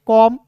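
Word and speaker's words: comb: सी ओ एम बी को पढ़ेंगे कॉम।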